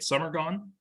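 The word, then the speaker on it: самогон: brought five liters of summer gone is that how you say it summer gone yes correct five liters of Summer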